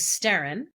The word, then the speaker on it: Sterrin: Sterrim, SBTERRIM, is the Gaelic word for storm, and the Western pronunciation of Sterrim is Sterrin, and that is my middle name.